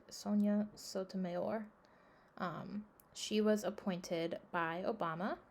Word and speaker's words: Sonia Sotomayor: Sonia Sotomayor, that's not how you say it, Sonia Sotomayor.